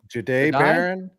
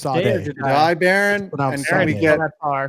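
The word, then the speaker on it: Jahdae Barron: J Jai Jade Jade Baron. It's Jai Baron.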